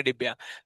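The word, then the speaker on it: Debye: Peter डिबाई actual pronunciation है। हम लोग बोलाएंगे डिब्या।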